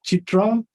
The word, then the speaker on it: CIITRA: This, am I pronouncing it correctly? Chitra Award? Yes. CIITRA. Yeah, I think I was invited to Chitra presentations about 2 years ago.